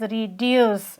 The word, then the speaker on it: reduce: We pronounced it as reduce because it has also two syllable re okay and deuce. Uh yes. So the stress falls on deuce.